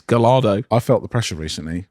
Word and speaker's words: Gallardo: But he pronounces Gallardo as we do. He says Gallardo. He says Gallardo.